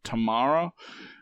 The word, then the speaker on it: Tamara: pronounce it Tamara yeah in this movie it's called Tamara and here in Australia this this name would typically be pronounced tomorrow so there's like three different ways I've heard it yeah the unfortunate thing